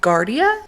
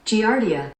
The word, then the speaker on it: Giardia: she turns out she had Guardia I think is how you pronounce it let me double check enlighten me on that Giardia Giardia okay so she had